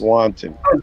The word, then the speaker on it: wanton: it's sort of like that SP but it's pronounced wanton all right so it not